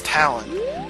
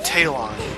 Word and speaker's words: Talon: the reason why I'm like 90% sure you pronounce his daughter's name Malin and not menen is because his name name is Talon uh not tailon or tailon so it's got to be Talon